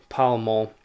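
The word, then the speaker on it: Pall Mall: newgrange and this is from uh paul mart it's spelt oh p-a-l-l-pal mall sorry pal mall gazette 17th of april 1916.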